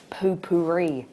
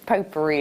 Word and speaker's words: potpourri: idea of these and we put Poo-Pourri or pop puree you know it's potpourri isn't it that's how you say it uh they'd be lovely